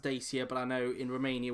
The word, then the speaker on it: Dacia: me and say it's dacha that's how it's pronounced in Romania but over here in the UK it's pronounced as Dacia so just before anybody